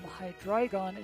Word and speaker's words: Hydreigon: Zweilous, while Dry from Hydreigon is 3, all pronounced with the I syllable.